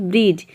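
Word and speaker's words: bridge: यदि किसी वर्ड में डी के बाद जी हो तो वहाँ पे डी लेटर साइलेंट रहता है। या फिर डी जी एक साथ हो तो वहाँ पे डी साइलेंट रहता है। जैसे कि देखिए यहाँ पे एग्जांपल है ब्रिज। ब्रिज में आप देख रहे हैं कि डी जी एक साथ आ रहा है, और या फिर डी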